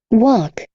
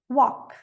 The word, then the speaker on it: walk: walk, Walk.